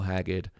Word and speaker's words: Haggard: But this version is really an older version of Merle Haggard. Merle Haggard. I do like his name as well. Just Haggard sounds like the word Haggard.